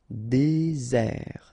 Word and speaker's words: désert: Désert, okay, remember, final T not pronounced, désert, and really this z sound just because you get one S between the two vowels, okay, z, désert.